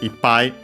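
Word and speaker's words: いっぱい: And when used as such, accent on the I, well, accented before the counter, so high. The accent then can stay on the small tsu, the doubling of the following consonant, so it moves on the I.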